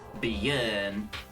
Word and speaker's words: Björn: Kinda like the way you pronounce the E in her. Yeah. Björn.